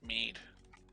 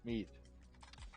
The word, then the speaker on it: Mead: My name is Mead. Mead. It sounds how you spell it.